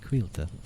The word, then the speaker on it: Cailte: l t is pronounced quila sort of like wheel but pronounced with a Q qu qu the emphasis